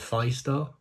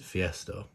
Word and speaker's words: Fiestar: um collaboration with Fiesta I think it is Fiesta isn't it that's how I pronounce it initially I wanted to pronounce it five star that's what I wanted to say but then I've looked at the the Hangul and it looks like it's Fiesta which makes sense because